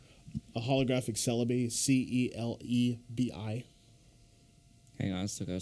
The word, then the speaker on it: Celebi: Like a holographic Celebi, CELEBI.